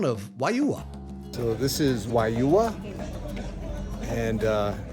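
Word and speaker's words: Juayúa: So, this is Wua. And uh it's not pronounced how it looks guys. It's not jua it's wua.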